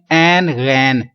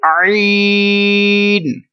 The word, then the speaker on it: عین: لوگ اس کو پڑھتے ہیں این غین. کیا پڑھتے ہیں؟ این غین. یہ دونوں ہی غلط ہیں. یہ اردو میں تو ہوگا ایسا، لیکن عربی لہجے میں ہمیں ایسا نہیں پڑھیں گے.